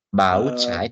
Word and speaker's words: Bauzeit: Bauzeit, ingat baik-baik, huruf Z itu kayak C pengucapannya ya. Jadi Bauzeit, jadi kayak huruf C dia pengucapannya.